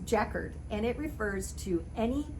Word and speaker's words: jacquard: swear to you that i always thought this was jacquard like rhymes with captain picard from star trek nope it's checkered and it refers to